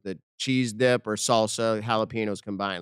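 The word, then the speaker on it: jalapeño: since we're correcting people it's not jalapenos jalapeno yes yes Ben jalap letar let's thank you Ben uh you're half Puerto Rican if I'm correct yes or jalapeno I just said it wrong I just said it wrong it's on top of the n and the H as a j or the J as an H we got it we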